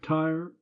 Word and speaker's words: Tyre: Tyre, you notice, 2 syllables to rhyme with deny her in line 3.